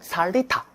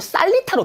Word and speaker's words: 살리타: 살리타. 여러분들은 지금 살리타로 배우는데, 제가 고등학교, 중학교 학창시절에는 살리타가 아니고 쌀리타로 배웠어요. 쌀리타. 네. 쌀리타. 지금은 살리타지만.